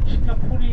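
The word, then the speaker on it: Singapura: 국가 연주하아요 국가 대니까 그 싱가포 연할 때 싱가포라 하 싱가포라 그래요 들 다가 이제 1819년에 영국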